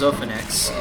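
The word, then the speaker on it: Xanax: um yeah but uh it is pronounced Zenex so if in case any of y'all were wondering if that is how it's pronounced or at least that's how the medicine is pronounced I did change alter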